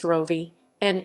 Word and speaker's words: Rovinj: ravage ravage croatian pronounced rovi an italian ravigno estriot ruvaino